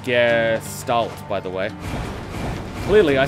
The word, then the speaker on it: Gestalt: It's pronounced Gestalt, by the way.